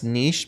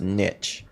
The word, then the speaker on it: niche: to think that it's niche because we think that it's a french word but it's actually an old english word and it's pronounced niche so that's the proper